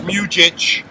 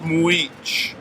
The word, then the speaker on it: Mujich: His name looks like it should be pronounced Mujich. Alright? And it's pronounced Mujich.